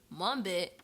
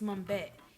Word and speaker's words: Mumbet: Mumbit? How do you even spell that? Where are we, Jay? This is getting weird. It's Mumbet, Mumbet.